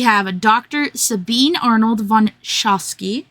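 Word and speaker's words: Sochocky: Sabine Arnold von Shosski Sashki uh Shashki I think is how they say it in the in the audio book and Dr.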